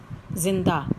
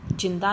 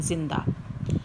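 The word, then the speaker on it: ज़िंदा: जिंदा, जिंदा नहीं है जिंदा।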